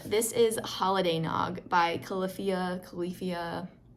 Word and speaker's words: Califia: jazzed about um this is holiday nog by califia califia call luffia is how it's pronounced on here that's weird um anyway their